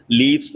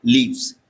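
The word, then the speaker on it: leaves: ये लीफ्स लीफ्स लीफ्स अगर आप फ साउंड के साथ भी बोलेंगे ना लीफ्स लीफ्स तो बीच में हल्का सा कॉम्प्लेक्शन आ रहा होगा। तो आप उसे स्मूथ करने के लिए एफ को वी से प्रोनाउंस करते हैं। तो आप बोलेंगे लीव्स।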